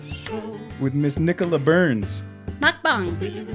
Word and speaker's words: mukbang: I think it's mukbang. Mukbang. Yeah. Like a bong.